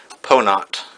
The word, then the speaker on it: Pono: Anyways, he wants to call it Ponot. It's spelled P-O-N-O, but pronounced, best I can tell, Ponot, and it means having goodness of spirit.